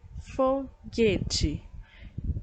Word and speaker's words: foguete: palavras em que o a letra u não é pronunciada então deixa fazer um exemplo aqui com vocês é só marcar aqui por exemplo aqui em cima e eu tenho a palavra foguete a palavra fogueira ó